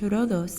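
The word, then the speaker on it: Ρόδος: in the island of rhodes which is pronounced rodos in greek i've decided to explore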